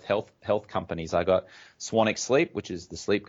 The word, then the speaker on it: Swanwick: actually spelled Swanwick com even though it's pronounced Swannack so it's ji mes